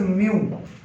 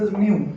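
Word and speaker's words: μ: Mobility को यहां पे डिनोट करते हैं एक सिंबल के साथ, this is नॉट you, this is म्यू। क्या है ये? This is म्यू। क्या प्रोनाउंसिएशन है इसकी? म्यू, ग्रीक अल्फाबेट है।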